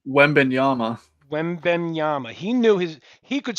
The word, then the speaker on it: Wembanyama: Wembaya? Wembenyama.